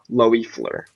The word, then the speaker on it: Loeffler: i think its spell it's pronounced loi Fleur loi Fleur okay Louis play let's